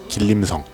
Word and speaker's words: 길림성: 게 맛있어서 그런것도 있겠지만 원래는 중국 길림성 을 번체 식으로 발음하면 길림성 간체 식으로 발음하면 지린성 이라네요 여기는 매운맛을 어떻게 하는지